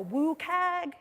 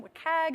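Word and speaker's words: WCAG: content accessibility guidelines it's also called the what CAG or the Wu CAG it's kind of hard to pronounce as an acronym what CAG is what we go with it's currently in versions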